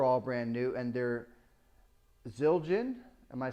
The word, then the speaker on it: Zildjian: Now I bought the stands are all brand new, and the cymbals are all brand new, and they're Zildjian. Am I saying that right? Zildjian.